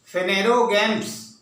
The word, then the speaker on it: Phanerogams: को हम लोग फेनेरोगैम्स के रूप में, थोड़ा प्रोनाउंसिएशन टफ है इसलिए मैं बोलता हूं, उसको ध्यान से सुनिए. फेनेरोगैम्स और नोन एज फ्लावरिंग प्लांट्स, इसको फेनेरोगैम्स के रूप में भी जानते हैं.